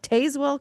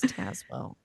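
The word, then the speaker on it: Tazewell: I used to call it Tazwell County, guys. I didn't know. There's an E in there. And Brian was like, it's Tazwell.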